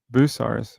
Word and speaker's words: Bucyrus: Bucyrus. All right. That's how we pronounce it.